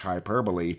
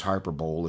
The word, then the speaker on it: hyperbole: life that's not just hyperbole sometimes known as hyperbowl if you don't know how to pronounce it but I'm just telling